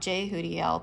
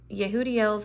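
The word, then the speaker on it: Yehudiel: picked it I thought J hudel but um evidently you pronounce it with a Y let's see what it says here leadership and in Endeavor the angel of figureheads yehudi El's name means laudation of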